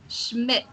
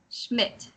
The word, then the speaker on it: Schmidt: s CH is so Schmidt oh and also D is kind of silent so Schmidt MIT yeah and you